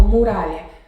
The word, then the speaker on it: muralha: Quando eu falo muralha, que que tá saindo mais forte? Urá, né? Muralha.